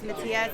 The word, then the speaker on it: Matias: Just your name and spell it for me. Last name is Matias, M-A-T-I-A-S, and M-A-R-I-M.